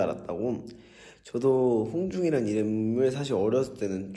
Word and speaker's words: 홍중: 저도 홍중이란 이름을 사실 어렸을 때는 좀 별로 안 좋아했던 게 어린 마음에 왜 보는 사람들마다 제 이름을 발음을 잘 못하시는 거예요. 홍준, 홍종, 홍준이 진짜 많았고 호중, 호준 막다 이렇게 얘기하셔서 제가 엄마한테 엄마 내